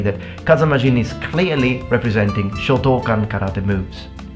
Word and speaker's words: Shotokan: practiced in the past Shotokan karate. And if you're Italian, all Italians mispronounce this karate style into Shotokan. It's not Shotokan, it's Shotokan. You have to put longer vowels in Japanese.